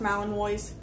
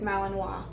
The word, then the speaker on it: Malinois: by the way guys it is not pronounced Milan boys it is Malinois doesn't matter if it's